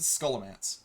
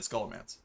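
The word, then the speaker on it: Scholomance: How did I pronounce I pronounced it scholance. I've always said scholamance. though. It sounds like I'm adding an A in there, but I I do know it's O like skull load dance.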